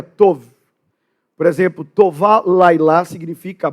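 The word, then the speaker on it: טוב: gente seria um B é a palavra tob mas a pronúncia correta seria tov por exemplo toval lilá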